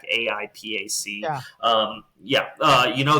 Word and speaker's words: AIPAC: I think it's pronounced Apac. AIPAC.